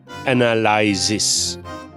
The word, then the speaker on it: analysis: And here's how it should be pronounced. Borough. Borough. And the next word is... Analysis.